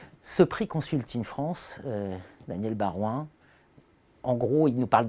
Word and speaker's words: Baroin: Daniel Barouin, bonjour. Bonjour. Aurélien Rouquet, bonjour. Bonjour. Daniel Barouin, vous êtes Senior Advisor Care1 by KPMG, je prononce bien?